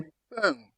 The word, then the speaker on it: pain: In, im. In, im. M. M. That M For example, you have pain. You say pain. Pain. That is bread.